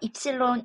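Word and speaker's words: ε: 더 동글동글하게 그려주면 되겠습니다이 문자를 읽을 때는 입실론이라고 읽습니다 그래서 입실론 이전율 입실론은 입실론 제로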